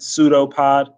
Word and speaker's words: pseudopod: is called a pseudopod the p is silent the first p is silent pseudopod and a pseudopod is